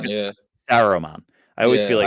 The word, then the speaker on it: Saruman: Okay, Now, I feel like the Dark Wizard is actually Solomon. I Saruman. feel Yeah, Saruman. I always feel yeah. like I say his name wrong.